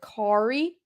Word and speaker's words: Khari: But his first name is Khari, like Kari.